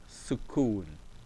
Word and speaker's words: sukoon: So kaf dhamma alone gives you the sound of ku, but with the waw, it gives you ku. So we have su, ku, n, sukoon, sukoon.